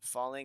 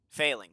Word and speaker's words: Failing: It is Falling FNT. Failing, sorry, Failing FNT. I keep calling him Fall. I'm so sorry. I've been pronouncing your name wrong Okay. the whole time.